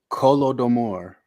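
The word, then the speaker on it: Holodomor: I've heard it pronounced Kolodomor. First sound is a guttural H sound.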